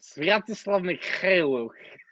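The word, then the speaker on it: Sviatoslav Mykhailiuk: Pronounce Sviatoslav Mikhailuk. Oh God, Sviatoslav Mikhailuk.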